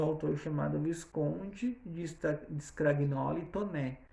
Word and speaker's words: Taunay: Depois eu vou ter Inocência, de um autor chamado Visconde de Scragnoli Toné. Se escreve Taunay, mas se fala Toné, certo?